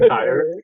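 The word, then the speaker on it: Týr: We're laughing because earlier I called it Tyre, and it was like a Freudian slip, and so now I'm having a hard time not saying Tyre instead of Tyr.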